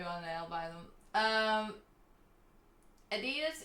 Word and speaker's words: Adidas: Please pronounce the German way. Oh my god. How is it? It's Adidas.